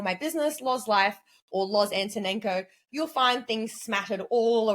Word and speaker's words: Loz Antonenko: in my name and a lot of people don't know how to say my name but it's Lo aneno if you read it and you say it you'll get it right if you overthink it you're gonna stuff it up right um but if